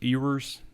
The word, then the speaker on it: Ewers: due to nil uh yes that is yours ewers cam yours is how you say his name he's going